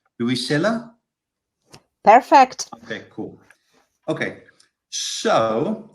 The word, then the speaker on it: Luisella: And tell me, am I pronouncing this correctly? Luisella?